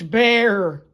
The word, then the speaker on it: Berr: That's BERR. 2 R's, Clayborn. How long have I told you to please pronounce it with the 2 R's?